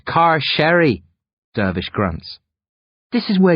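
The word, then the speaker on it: Carcery Vale: sign as we exit car kerry vale car curry vale hi murmur it's pronounced car sherry dervish grunts this is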